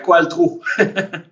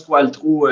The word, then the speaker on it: Qualtrough: Quand on lit les lettres, là, ça sonnerait différemment, mais on prononce Qualtrough ici à la Chambre.